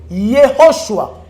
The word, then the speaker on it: Yehoshua: tu intimider nga bandela il faut bien prononcer Yehoshua aspiration ho Yehoshua papa obilo avec Esther